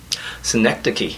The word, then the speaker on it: Synecdoche: I can't pronounce it. Syndicate New York. I think it's called. Synecdoche.